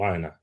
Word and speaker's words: Aina: So yeah, Allah Aina is gonna have to be doing that a lot more. Is that how you pronounce his name, Aina?